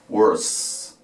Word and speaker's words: worse: La primera termina en R, entonces la O no varía, pero al final la E no suena, entonces va a terminar en ¿qué? Solamente en la S, para decir peor, worse, worse, ¿ok?